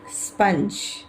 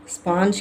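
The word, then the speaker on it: sponge: ஓ என் ஜி இ ஸ்பஞ் ஸ்பாஞ்ச் கிடையாது ஸ்பஞ்ூ யூகம்பர், onion, language, college, மெர்கரி, kernel, miracle, fountain message ஸ்பஞ் இன்னைக்கும் நாம எல்லாருக்கும் தெரிஞ்ச ஒரு ஸ்டோரிதான் பார்க்க போறோம்.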